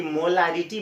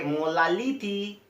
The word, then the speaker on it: molarity: आप भी गलती से ये काम मत कीजिएगा कि मोलारिटी बोलना है तो तोतली बोलने वाले हम बच्चे बोलेंगे मोलालिटी।